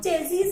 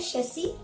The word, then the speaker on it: chassis: तू अंग्रेजी में झाड़, तो उसको तो है ना आप चेजिस ही बोलिएगा कि ये चेजिस नंबर बोल, बट हम तो नॉलेज तो होना चाहिए। ठीक है, तो एक्चुअली उसका करेक्ट प्रोनाउंसिएशन जो है वो है शेसी।